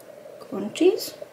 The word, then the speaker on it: Quntis: Die Marke heißt Contis. Contis? Glaube ich, wird es ausgesprochen.